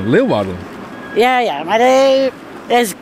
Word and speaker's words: Leeuwarden: Mensen uit het zuiden die zeggen altijd, die leggen altijd de klemtoon op Arden. Hoe zegt u het? Leeuwarden. Ja, Leeuwarden. Ja. Wij zeggen meer Leeuwarden.